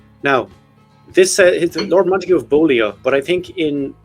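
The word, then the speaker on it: Beaulieu: this Lord monu of bolia but I think in in aristocratic English they pronounce that buy I think so I'm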